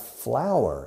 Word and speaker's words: flour: Se escribe flour, pero se pronuncia igual que flor.